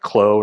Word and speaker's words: Clos: um and I'll mention that yes the correct pronunciation is in fact CL not CLA so um for everyone in the room uh